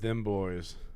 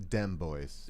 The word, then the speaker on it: Dem Boys: i know better with them boys i'm gonna stay sober enough to watch the show it's pronounced dem boys you're right things went